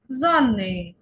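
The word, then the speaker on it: Sonne: এরপরে হচ্ছে এস, এস, এস এর উচ্চারণ কি হবে? এই যে এক্সাম্পল হচ্ছে জন্নে, জন্নে, একটু জয়ের মতো করে উচ্চারণ হবে।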